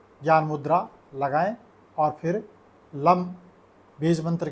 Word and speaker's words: लं: बीज मंत्र लम है तो लम में ल एक तिहाई लंबा खींचना है और दो तिहाई लंबा इसमें म के नीचे हलंत तो ऐसे बोला जाएगा लम लम लम ऐसे मंत्र का उच्चारण